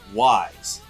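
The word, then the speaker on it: W'z: just like oh no it's called wise which if you first look at the the name of the show you have no idea how to pronounce it because it's W apostrophe Z how do you forget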